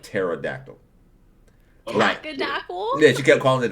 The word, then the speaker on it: pterodactyl: Me and my daughter Minnows were trying to get my aunt to stop saying tackadackle instead of pterodactyl.